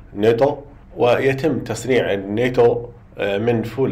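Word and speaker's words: 納豆: إن إنزيم الناتو كينيز هو إنزيم يأتي من طعام ياباني يسمى الناتو، تلفظ باليابانية ناتو، ويتم تصنيع الناتو من فول الصويا المسلوق الذي يتم تخميره بنوع معين من البكتيريا تسمى البكتيريا العصوية الرقيقة.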